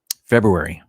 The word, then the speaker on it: February: uh number 11 of my top 15 months of the year february uh pro valentine's day also no one cares if you don't pronounce the first r at least if you